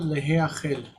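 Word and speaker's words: להאכל: So to eat, to be eaten, ne'echal, ne'echal, instance, ne'echal leheachel, leheachel. So with the gutturals in the first position, the he takes a instead of e. Leheachel, to be eaten.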